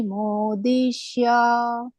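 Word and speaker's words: ಮಾದೃಶ: ನೋಡಿಮೋದಿಶ ಗಮನಿಷ ಮೋದಿ ಯಕ್ಷೇದಾಸ್ಯಮಿ ಮೋದಿಶ ಅಂಗಳಕ್ಕೆ ನಿಮ್ಮ ಮೇಲಿನ ಭಾಗ ಇದೆ ಮಾತಾಜಿ ಅಲ್ಲಿ ನಾಲಿಗೆ ಹತ್ತಿಬೇಕು ಅವಾಗ ಶ ಉಚ್ಚಾರಣೆ ಬರುತ್ತೆ ಮೋದೃಶ ಮೋದಿಶ ಇಲ್ಲ ನೀವು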